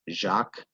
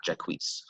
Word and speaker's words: Jacques: champlain and yes that's jacques not jaquise i've had plenty of students pronounce it that way that is not the french way of pronouncing the name now jacques cartier he